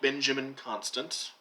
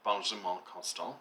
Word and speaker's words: Benjamin Constant: Looks like Benjamin Constant, but he was a French diplomat, so Benjamin Constant, I think is how you would pronounce his name, more or less.